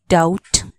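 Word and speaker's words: doubt: ओ यू बी टी डाउट यहां B silent D ओ यू बी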